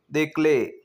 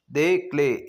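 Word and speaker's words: des clés: दे क्ले दे क्ले यहां पे दे जरूर यूज़ होगा लेकिन जो क्ले होगा सी एल ई वहां पे पीछे एस लग जाएगा। तो वो प्रोनाउंस में सेम वैसा ही रहेगा लेकिन पीछे एस लगेगा।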